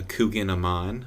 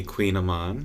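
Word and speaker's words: kouign-amann: I usually go with a little bit of a Coogan Aman, or properly pronounced a Queen Aman.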